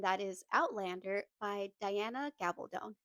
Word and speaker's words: Gabaldon: So, I bought the first book in the series, and that is Outlander by Diana Gabaldon. I just looked up the author, and that's how they're pronouncing their last name.